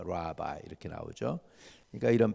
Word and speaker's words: 랍비: 우리말로 그냥 한 거니까 비슷한게만 생각하시면 돼요.에 히브리 사람들이 하는 그 우리 말론 랍비여 그러는데 사실은 랍비가 아니고 라바이에 이렇게 나와요. 라바이 이렇게 나오죠.